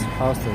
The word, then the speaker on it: Houston: We're waiting to cross Houston Street. Whoops. Some say Houston, but not in New York. But Houston is spelled the same way. But in New York, they say Houston.